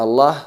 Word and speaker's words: Allah: Cualquier letra del alfabeto que precede la lam de la palabra Allah, únicamente la palabra Allah, la lam, es pronunciada con enfatización. Qul huwa Allahu ahad.